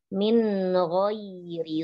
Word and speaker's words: من غير: عفوا أمي تدي Umi baca nun ketemu ghain itu seperti didengung Umi. Seharusnya itu dibaca jelas namanya hukum tajwidnya izhar. Jadi bacanya itu jelas. Min ghairi su'in fi.